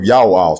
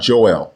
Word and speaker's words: Joel: to the book of Ya'al, chapter 2, verse 32. The prophet's name is Ya'al, not Joel, and it means Ya'o is God.